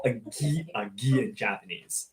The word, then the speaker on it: gi: Oh, gi, you pronounce it as G-E-E? Really?